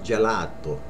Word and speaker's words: gelato: ice cream ice cream a lot of people say Joe arrow which is right but without the accent it's gelato gelato ice cream Gallardo okay